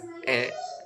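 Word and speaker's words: へ: Di poin A ini ada partikel E. Walaupun hurufnya H tapi dibacanya e minasang yang artinya ke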